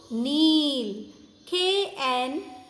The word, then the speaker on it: kneel: Our knees help us to kneel. KNEEL, kneel. Here K is silent, children. We are not pronouncing the letter K. K became silent here.